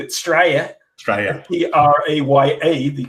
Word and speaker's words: Straya: a similarity in our accents Bing is from straya which is the correct pronunciation for as the British would say Australia